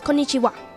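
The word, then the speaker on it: こんにちは: it's called konichiwa so actually the wa is pronounced a bit like a heart so it's konnichiwa konichiwa konicha konichiha konichiha so it is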